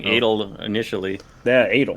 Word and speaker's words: Adol: Well, you were saying it like Dreidel. You're saying Was Adol. I? Yeah, you kept saying Adol initially.